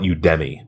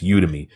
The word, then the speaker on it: Udemy: like the way I I call it udmi but I don't think it's pronounced that way it's udemy UD DM y u